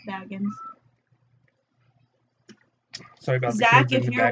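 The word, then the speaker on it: Bagans: In 2015, Zach Baggins. It's pronounced Baggins.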